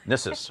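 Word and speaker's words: Gnisis: Yes, in this one, the G is silent, unlike in Dreg. In Dreg, the G is the only thing you pronounce. In Nissus, it's the letter you don't pronounce.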